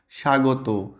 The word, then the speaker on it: স্বাগত: শব্দের শুরুতে বফলা বা মফলা যেটাই হোক না কেন, শব্দের শুরুতে সাইলেন্ট থাকবে। স্বদেশ, স্বপ্ন, দ্বিতীয়, দেখো বফলা। আর এখানে আর কি আছে, যেমন স্বল্প, স্বাগত, স্বাধীনতা, স্বজন, জ্বলছে, ধ্বংস, এটা তো আগেই বললাম।